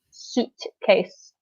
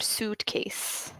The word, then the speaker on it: suitcase: of this word because it's spelled like sweet case but you pronounce it suitcase okay so you can practice at home with this suitcase exactly so yeah it makes the OO sound suitcase exactly identical perfect yet